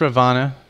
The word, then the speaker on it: Ravana: patch um it says ravana but uh as is typical with hindu culture you do not pronounce the last a on a name that ends with a uh it's just a